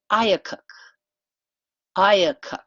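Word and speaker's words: IACUC: need to know this one also it is pronounced ayuk ayuk i AC you see it stands for the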